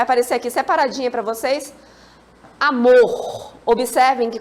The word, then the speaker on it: amor: aqui separadinho para vocês amor observa em que quando eu pronuncio amor amor qual é a sílaba forte Mor não é isso então a letra